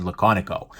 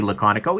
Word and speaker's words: Laconico: by raela Conoco and i actually asked the guy hey ray eddie pronouncing Amy said laconic oh so now I know that right um but anyways I this is done by Ray laconic oh you could probably tell